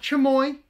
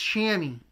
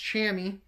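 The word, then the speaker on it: chamois: okay here is a LL Bean it's not chamoy it's it's shammy if you guys can see that word right there it's spelled c h m o i s pronounced shammy as I've learned from my buddy Caleb cells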